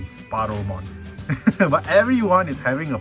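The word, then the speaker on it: Sparrowmon: goodness you guys have you guys know your tiny bird species right it's supposed to be sparrow mod but everyone is having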